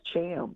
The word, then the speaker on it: Thiam: pronounce my last name it's pronounced Cham can you leave it